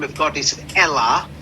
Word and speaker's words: Elah: name of God is Elah. They say it's not Allah, they pronounce it with the letter E.